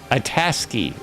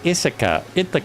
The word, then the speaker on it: Itasca: We're gonna end up at Lake Itasca. Lake Itasca. I want to say Ithaca, but it's not even spelled the same.